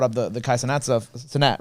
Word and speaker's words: Cenat: But it was funny because when you brought up the Kai Cenat stuff, Cenat, right? That's how we say it.